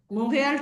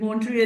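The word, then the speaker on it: Montréal: Montreal T is silent. Montreal you say in English.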